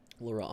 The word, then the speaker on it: Laurent: How do you pronounce your name? Laurent. Laurent. Yeah, Laurent. Laurel. Laurent. Okay. It's Laurent?